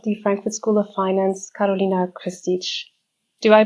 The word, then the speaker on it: Karolina Kristic: With me today is from Germany, CFO and Chancellor of the Frankfurt School of Finance, Karolina Kristic. Do I pronounce the name correctly?